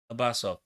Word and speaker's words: Abbasov: I don't want to mispronounce the man's name. Yeah, it was the Azerbaijani Abbasov. Abbasov.